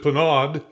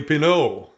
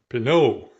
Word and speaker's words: Pinaud: I have been pronouncing it, and a lot of people in the United States pronounce it Pinaud, but it's actually Pinaud. Pinaud.